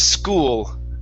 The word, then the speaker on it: school: So here, instead of saying school, it's school. Pronounce the L at the very end.